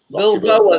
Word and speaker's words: Balboa: Rocky Bilbao, or whatever his name is. Rocky Bilbao. Balbao. Oh, I don't know how you pronounce it.